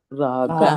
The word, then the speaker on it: राग: Raga. Raga. Raga. You notice the mouth? Raga. Ra and ga. Raga. So how the shape of the mouth is different?